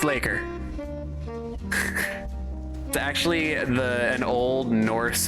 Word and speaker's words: leikr: main body so dirty Laker boy Laker it's pronounced Laker actually the an Old Norse Viking word for